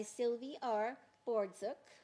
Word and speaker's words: Sylvie Bordzuk: By Sylvie Bordzuk.